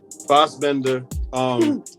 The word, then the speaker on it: Fassbender: Fassbender.